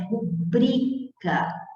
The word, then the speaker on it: rubrica: Não é rubrica, a pronúncia correta não é rúbrica, a pronúncia correta é rubrica, é o bri que é mais forte, a sílaba tônica é o bri, não é o ru.